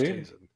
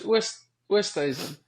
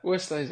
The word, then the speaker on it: Oosthuizen: But he was always convinced you pronounced your name incorrectly. He always thought it was oh really? Westhazen, Westhazen. Oh no, it's Oosthuizen. Yeah. Oosthuizen.